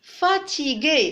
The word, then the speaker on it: fatigué: Fatigué, c'est le son G, parce qu'il y a le U après le G, qui ne se prononce pas.